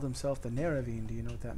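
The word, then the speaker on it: Nerevarine: Neravine. That's how you pronounce it.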